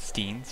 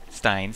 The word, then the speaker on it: Stein: steel weapons and crude Steen or Stein. That's how you pronounce it. I always used to pronounce it Steen cuz it looks like Steen, but uh the correct pronunciation is Stein.